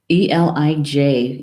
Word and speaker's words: Eilid: And, to pronounce this one is kind of hard in Gaelic, but I'll give it a good go here. Hind. Where are you? Here you are. Eilid. Elij is the pronunciation.